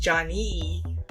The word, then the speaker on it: Jani: Well, Johnny, according to some trolls that I've run up onto, is pronounced Johnny.